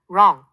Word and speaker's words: wrong: 그리고 W, R은 W가 묵음이 되고 R 소리만 난답니다. right, 쓰다, wrong, 틀린 등이 그 예시예요.